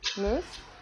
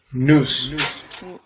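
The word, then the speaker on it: νοῦς: Moose? Nous.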